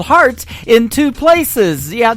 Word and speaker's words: Hart: on her last name and that is called heart in two places yeah I just like your heart that how that's spelled and uh she is actually formerly from